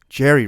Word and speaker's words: Jehry: mean I know it's Jerry but it's like Jeri yeah like J uh yeah what's up with that just pron it's just pronounced Jerry man but uh yeah I've